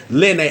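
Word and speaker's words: Linne: I think who I've learned how to pronounce this name correctly, Lene. I'm always gonna call her Lynn, but it's pronounced Lene.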